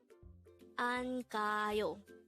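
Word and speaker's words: 안 가요: Angayo. This is pronounced as a three-syllable word. The first syllable is an, second syllable is ga, and third syllable is hyo.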